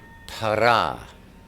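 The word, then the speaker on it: פארא: Now, the word we see here in English as fruits in the Aramaic is para. It is spelled Pei, Aleph, Resh, Aleph.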